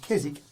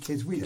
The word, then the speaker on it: Keswick: pronunciation point of view I often say Keswick as a silent W and I noticed you then said kids weird as a week so I don't know